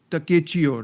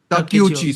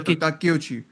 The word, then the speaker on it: Takeuchi: main culprit essentially is Takechio, right? Or Takechio. How do you Yeah, pronounce it? yeah. Takeuchi. Sorry, Yeah, so Takeuchi.